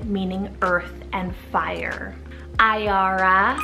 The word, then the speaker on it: Iara: Iara, spelled I-A-R-A, Iara.